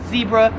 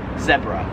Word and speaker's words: zebra: I would pronounce this, Americans would pronounce this as zebra. However, in Australia they pronounce it zebra.